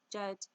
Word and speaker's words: djed: Flanking this symbol are two tet stabilizer pillars, also called djed, pronounced jed, pillars.